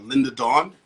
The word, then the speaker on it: Lynda Dawn: There's a song by a young lady named Linda Dawn. It's spelled Lynda Dawn.